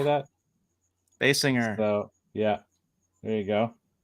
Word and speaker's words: Kim Basinger: Basinger.